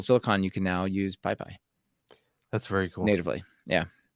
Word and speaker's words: PyPy: And until recently, I wasn't able to use PyPy. Now, PyPy is the JIT compiled, often faster version of Python.